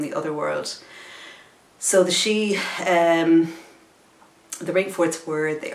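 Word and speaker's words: sí: they're the she they're the Irish word for them is she and actually van she the Banshees of initial in that film again uh the Banshee in that film you see as an old woman so um she's the Batman means a woman and she means fairy are so the fairy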